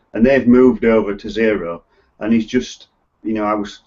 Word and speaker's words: Xero: And so people like companies like Free Agent, Xero, which is spelled with an X, it'll be in